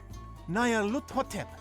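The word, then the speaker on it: Nyarlathotep: This phrase is pronounced Nayarhut, or more likely, Luthotep. Nayarluthotep, that's it!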